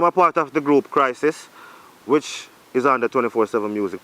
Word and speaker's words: Krisis: I'm a part of the group Crisis, which is under 24/7 music production and can boost to 7 figures.